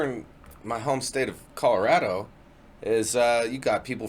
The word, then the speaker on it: Colorado: my home state of colorado is uh you got people from the prairie pronounced it colorada you got people from the city called colorado you got people to